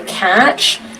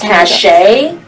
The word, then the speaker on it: cache: I say clear the cache. Kate says cache. What do you say? How do you pronounce it?